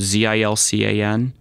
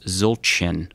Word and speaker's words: Zildjian: not how it's pronounced the C would have a little tail on the bottom of it so it's pronounced Zildjian which means big bell